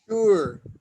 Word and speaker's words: sure: sure, ¿Cómo? sure, como si hubiera una H después de la S.